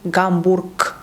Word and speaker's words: Гамбург: First one, when it's located at the end of the word. For example, Гамбург, we say Гамбург, or Медведев, we say Медведев.